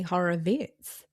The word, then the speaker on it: Horowitz: So, I think I just saw on the internet he pronounces it Anthony Horror Vitz and I'm thinking that's not okay.